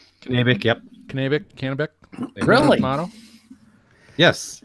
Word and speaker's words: Kennebec: Kennebec, yep.